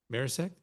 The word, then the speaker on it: Marisek: How do you say it? Marisek? Yes, like Mengel said.